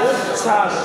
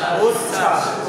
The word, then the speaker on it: উচ্ছ্বাস: উচ্ছ্বাস, উচ্ছ্বাস, চাষ না ছাস, উচ্ছ্বাস।